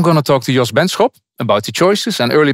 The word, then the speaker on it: Benschop: They all pronounce it wrongly. It's Benschop, with a sharp sch. But most then say, in England they, or in the US they call me Benschop. They soften it.